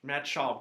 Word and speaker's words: Schaub: Oh, Is that how you pronounce it? Yes, you're right. Yeah, Matt Schaub, because he used to be quarterback of the Texans.